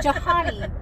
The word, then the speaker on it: Johanny: Not Johanny, the H is silent.